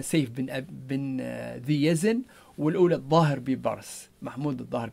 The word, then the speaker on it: سيف بن ذي يزن: طبعا هذه الطريقة اللي كتب فيها عشان اسمها، لكن هو غالبا تحريف أو النطق الليبي لهذه الأسماء، محمود بن أبي برص وقصة سيف الأزل. طبعا هنا تحريف زي ما قلنا، سيف بن ذي يزن، والأولى الظاهر ببرس، محمود الظاهر ببرس.